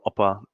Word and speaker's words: OPPA: yourselves and then um we'll work into what oppa is um is all about am i saying